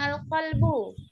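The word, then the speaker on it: القلب: Tuh, hati-hati ya antara al-kalbu sama al-qalbu. Kalau al-kalbu anjing, kalau kalbu Hati. Hati. berarti harus berhati-hati antara pengucapan kalbu sama kalbu ya, karena artinya sangat jauh.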